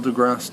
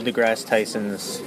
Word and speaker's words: deGrasse: DeGrasse. Because there's also that Degrassi Junior High TV show, but they spell it with an I, so hence why Degrassi.